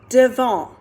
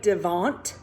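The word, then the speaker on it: devant: the french word for in front of is devon that's how you say it spelled like devonte but we say devon good job our next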